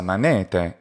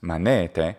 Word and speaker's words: manete: Demissa manete is how it must be pronounced in any of the Latin pronunciations, manete, because the stress is on the ne.